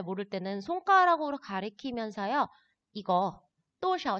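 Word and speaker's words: 多少: 그래서 多少 할 때 샤오를 경성어로 발음하는 거 잘 봐두시고요.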